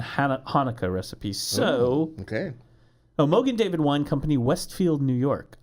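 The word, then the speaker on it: Mogen David: Mogan David is the Yiddish pronunciation of the Hebrew Magen David, which literally means shield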